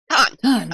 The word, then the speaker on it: Cannes: Film the Cannes Film Festival. Cannes. Okay. Cannes. Gone, like in Star Trek.